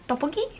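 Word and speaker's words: 떡볶이: my favorite thing is watching ASMR mukbangs of tteokbokki. I don't know how it's pronounced. I'm sorry. Tteokbokki?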